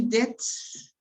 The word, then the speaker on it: debts: pronunciation of this word in this here you don't pronounce the b you pronounce that okay do you have many debts that is uh there